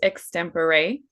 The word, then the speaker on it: Extempore: Um, Also, a side note, the company I work for is pronounced extempore. It's a Latin word and it's okay.